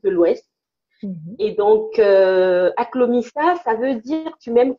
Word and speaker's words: Aklomissa: Alors, ma marque, ça s'appelle Aklomissa. Comment tu Aklomissa, l'écris? Aklomissa, ça s'écrit A-K-L-O-M-I-2-S-A, Aklomissa.